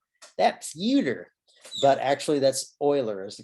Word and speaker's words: Euler: euler in the 1700s he's from switzerland so his name is german uh we americans would look at that word and think oh youtu that's theater but actually that's euler is the correct way